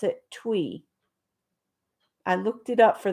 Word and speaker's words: Thuy: But Thuy, Thuy, is Vietnamese, and you pronounce it Thuy.